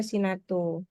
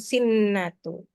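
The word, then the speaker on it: سِنَةٌ: dua harakat lalu sinatu nah di siniatu enggak ada tasdid di atas nunnya jadi sinatu harusnya baca sinatu bukan sinnatu sinatu W Na Enggak ada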